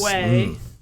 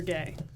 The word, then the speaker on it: Guay: Guay or gay.